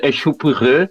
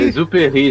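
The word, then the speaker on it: Exupéry: Duchon Echupurê, Sérgio Brito. Adorei a pronúncia. Pera aí, não é o Exuperry? Exuperi, isso aí.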